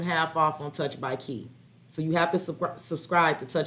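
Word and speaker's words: Chi: And the key is spelled C-H-I. It's Touch by Key, C-H-I, not K-E-Y. It's like my name.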